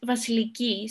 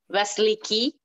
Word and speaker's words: Vasiliki: Vasiliki, how do you say your name? It's Vasiliki, so the stress is at the end. Vasiliki?